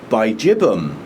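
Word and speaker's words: bigibbum: And Berryoda is a hybrid between Kingianum and Bijibum. I heard an Australian say it properly, Bijibum. I still like Biggie Bum. Anyway, it's a taste thing. Apparently it's pronounced Bijibum.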